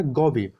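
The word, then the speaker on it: GAVI: नाम क्या रखा गया गब गौब स्पेलिंग है जी एवी आई गौब तो याद रखिए पूछा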